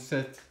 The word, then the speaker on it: SE7: Alors si je peux me permettre, ça se prononce 7.